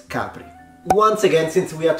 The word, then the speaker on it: Capri: French in this case in Italian we say Capri Capri so the stress is on the ah sound not at the end no one says hey let's go to Capri it's Capri once again since we